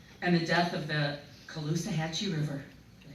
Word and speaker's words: Caloosahatchee: No longer accepting poisoned water, toxic air, increasing cancer rates, and the death of the Caloosahatchee River.